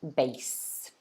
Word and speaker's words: bass: uh the guitar basically okay so this is pronounced bass okay however we have another word that looks